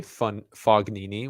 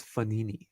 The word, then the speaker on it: Fognini: Like, I would say Fognini, which is just like pronouncing all the letters, but they're like, no, it's Fonini.